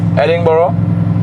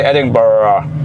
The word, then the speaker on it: Edinburgh: were like it's not you don't say how you spell it yeah because we're Germans we were like Edinburgh and then people over there I was asking them how to pronounce it right and they were like just say Edinburgh Edinburgh Edinburgh there's no ladder here